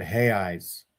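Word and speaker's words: reais: are hey eyes so that's how they pronounce re A L we would say real which is like the the king's money and they pronounce it he eyes because like Joseph Smith's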